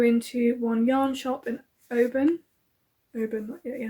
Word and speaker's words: Oban: I did go into one yarn shop in Oban, yeah, I did say that right. I was saying it wrong to start with, which is embarrassing.